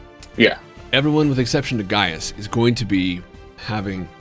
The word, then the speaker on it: Gaius: everyone with exception to I want to say Gaius isn't that how it's pronounced yeah everyone with exception to Gaius is going to be having an increasingly difficult